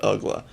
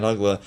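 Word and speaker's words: Uggla: media world did not quite know how to pronounce his name and they would say really everything but ugla and at a point rich waltz and tommy hutton started saying his name is dan ugla to anyone and everyone who mispronounced it and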